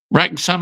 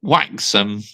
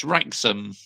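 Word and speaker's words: Wrexham: Rexom. I thought it's pronounced Waxom. Yes, Rexom.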